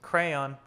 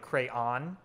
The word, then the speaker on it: crayon: two syllables sounds like crayon with two syllables where the second syllable rhymes with dawn sounds like crown other